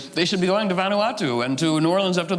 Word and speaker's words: Vanuatu: The island of, I'm not going to pronounce it. It's Vanuatu.